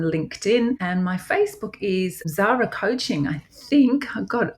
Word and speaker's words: Tzara: So Tzara spelled with a T, just to confuse everybody. Tzara. Don't call me Tarzan. I've been called Tarzan before.